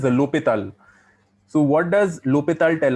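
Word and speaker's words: L'Hôpital: Now, if we go into the solving part of it, we have something called L'Hospital's rule. Okay, what is L'Hopital? L'Hospital is actually pronounced as L'Hopital.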